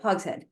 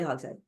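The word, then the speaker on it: Hogshead: author S Sally hogen hog Sheed it's h o g s h e a d um sorry hog head that's how she pronounces it Sally hog head um but it's fascinating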